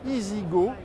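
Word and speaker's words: EZ-GO: car de renault que qui s'écrit aux aides tirées géo mais qui se prononce easy go alors le concept easy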